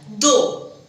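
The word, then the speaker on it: though: बोलतात दे हिंदीमध्ये बोलतात दो तसा हा दो टी एच ओ यु जी एच दो जसं मी तुम्हाला पहिले हे हिंदी मधला दो आणि हा दो दोघांचं प्रोनाउन्सिएशन सेम आहे पण फक्त प्रोनाउन्सिएशन सेम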